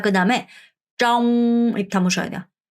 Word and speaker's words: trong: 자, 그다음에 trong 이렇게 담으셔야 돼요. trong r 발음해서 trong 뭐뭐 동안에 어디 안에 뭐뭐 동안에라는 표현이에요.